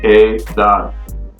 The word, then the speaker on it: edad: So that means age, and since it ends in a consonant, the letter D, the syllable that's going to be stressed is the A, the last A there. So edad. I have to put that stress on that very last syllable, edad.